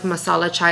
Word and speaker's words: masala chai: good I love like Masala chai is how you pronounce it Masala um this what